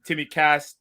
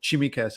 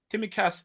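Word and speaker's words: Tsimikas: bit of stick saying timmy cass tittie cass costas what what is it let us say i mean costas explains itself that's fine it's it's like the ts is pronounced at the same time so it's a c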